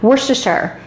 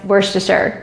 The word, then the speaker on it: Worcestershire: Worcestershire, that's how you say it, guys, Worcestershire, practice it.